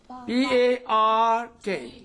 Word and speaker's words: park: Well, usually R is going to be silent at the end of a word in British English. In British English. example is father, brother, mother, and all that. But it is prominent. It is silent also in the middle of a word when it is before. Yes, before this consonant letter. For example, P-A-R-K. Park. Here this R is coming before a consonant.